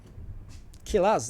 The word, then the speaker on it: Killas: another round won by Killa. Killas. There's an S. There's an S actually in the name. Okay, my bad on the pronunciation, friends.